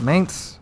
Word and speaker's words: Mainz: premium german cruiser mainz our mains i think mainz is the right right way to say it um anyway that